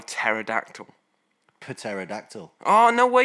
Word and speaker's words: pterodactyl: how do you spell pterodactyl pterodactyl oh no way you know it had a silent P yeah oh I only